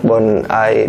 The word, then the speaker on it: Bondi: Ini nih, Bonai, ditulisnya mah Bondi ya, tapi dibacanya Bonai.